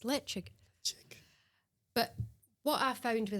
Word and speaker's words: Ledaig: And he pointed it out and she said, "Or league." And he said, "No, it's le."